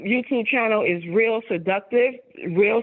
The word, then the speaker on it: Rill: channel is real seductive real spelled like my name which is r i l l seductive right just real